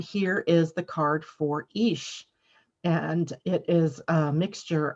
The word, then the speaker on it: Ix: So the pronunciation is Ish, easy to see.